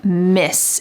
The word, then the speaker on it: Ms.: So they want to just use the form Miss. It sounds the same as MISS, but it's spelled MS, Miss Vanessa.